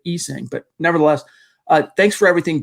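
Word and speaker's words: Essang: By the way, he pronounces it Esang, but nevertheless, thanks for everything, Bassi.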